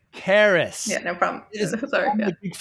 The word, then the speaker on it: Karras: Tina Karras, thank you so much for your time today. It's Karras, by the way. Karras.